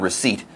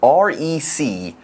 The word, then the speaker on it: receipt: First of all, this word receipt is kind of difficult to spell. R-E-C-E-I-P-T. But the P is silent. You don't say receipt. No. No, it's just receipt and end it.